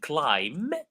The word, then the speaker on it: climb: Because thumb, the B is silent. So, so far, I think we have seen climb, thumb.